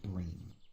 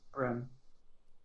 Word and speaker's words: Brem: Also, 2 more healers named Mara and Bream, but I do not know either of them. It's not Bream, it's Brem.